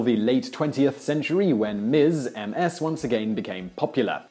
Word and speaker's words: Ms: the case until the late 20th century when Miz Ms once again became popular in the early